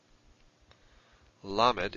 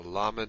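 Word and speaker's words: למד: Lamed is our L sound, as in Lord. So Lamed is L, as in Lord.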